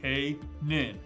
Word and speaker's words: Canaan: into the land of canaan pronounced k nin canaan it's gonna be great